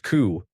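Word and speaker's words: cū: The Anglo-Saxon word for cow was cu pronounced coup.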